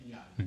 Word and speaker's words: Netanyahu: Right, Netanyahu.